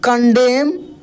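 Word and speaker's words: condemn: कंडेम क्या पढ़ेंगे दोस्त कंडेम यहां पर एन साइलेंट है क्या है कंडेम अदर्स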